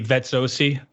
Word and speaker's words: Vezzosi: The Italian way to say it would be Vezzosi, like 2 Z's is TZ, like pizza. With the harder sound. Okay, I'm with Vezzosi.